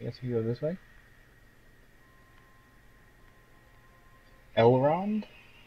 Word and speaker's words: Elrond: Elrond? I think that's how you say it. I mean, that's what it looks like. It's one of the few Lord of the Rings names I can pronounce.